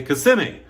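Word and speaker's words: Kissimmee: Actually, Kiss or as the locals say, CMI, Florida.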